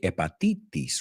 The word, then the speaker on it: hepatitis: You say hepatitis, right? La H lo pronunciamos. Hepa. Y los itis son itis in English. So bronchitis, conjunctivitis, hepatitis. ¿Ves un patrón ahí? Itis is itis.